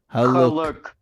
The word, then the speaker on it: Haluk: Haluk. That's how you say it, guys. Haluk.